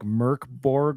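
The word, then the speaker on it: Mörk Borg: hack of Mor Borg in Swedish it's pronounced a little bit more like MK Borg or MK Bor Bor I think it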